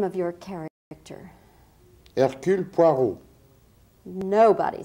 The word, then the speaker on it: Hercule Poirot: You must pucker your lips as though about to bestow a kiss.